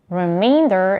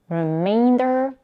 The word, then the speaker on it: remainder: about the pronunciation the the difference between the two words is in the vowel in the second syllable remainder is pronounced with a diphthong a is in Main and reminder is pronounced with another diphthong I as in mine the rest of the vowels in both words are reduced to a schwa now let's try this